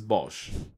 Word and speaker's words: Bosch: we have Bosch and there is no difference between the German and English pronunciation it is Bosch the name Bosch comes